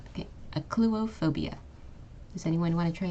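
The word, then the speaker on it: achluophobia: with fear of darkness this is pronounced aop phobia okay a phobia notice how the CH makes a hard C Sound and the pH makes a f sound okay aop phobia does anyone want to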